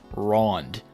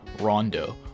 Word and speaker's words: Ronde: first glance you're like okay wronged but then below that it's Gotta clarify no dumbass actually pronounce that e as an O and then in Japanese it says rinbukyoku Rondo why not just spell